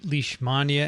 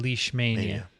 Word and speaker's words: Leishmania: research right and i've heard it pronounced both ways by people who are experts in the field so leash mania and leash mania okay so folks there you go he was at these meetings full of experts and they pronounced it both ways i believe the british would have pronounced it lishmania and we were pronouncing